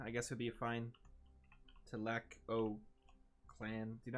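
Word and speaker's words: Tlalocan: I mean, we could rename it back to Tlac clan.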